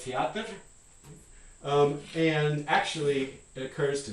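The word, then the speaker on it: театр: But for at least some Russian speakers, this could be one syllable, teatr.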